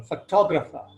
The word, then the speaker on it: photographer: When we change this word, when we add an ER to this word, the word's accent or stress moves from the first syllable to the second syllable. Photographer, photograph, photographer. And in the case of